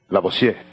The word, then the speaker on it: Lavoisier: Lavoisier, así se pronuncia, ¿no?